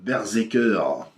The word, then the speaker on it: BRZRKR: de B ce que berser qui se prononce comme ça malgré l'absence de e sur la couverture mais le personnage se